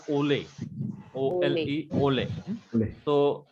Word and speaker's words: ole: Following accented syllable. So this accent is called ole.